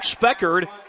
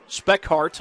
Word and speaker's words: Speckhart: He was going for Luke Speckard. Speckhart, I beg your pardon, is how that's pronounced.